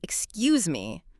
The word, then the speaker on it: excuse me: The answer is, excuse me, with the voice going UP at the end. Yes. Excuse me. Did you get it? Did you remember the Z sound?